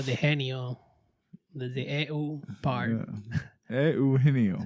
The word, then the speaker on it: Eugenio: Eugenio. It's too. Yeah, it's the EU part is hard to get because I know the Genio. The EU part. Eugenio.